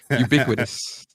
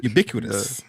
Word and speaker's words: ubiquitous: got me Tongue Tied ubiquitous ubiquitous you got to say the b you some people say